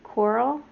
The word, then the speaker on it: Corll: case is about dean coral i think that's how you say it coral it's c-o-r-l-l and he is also